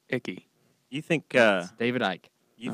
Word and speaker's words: Icke: tank for a giant spaceship about that was pronounced icky you think David Icke you think people are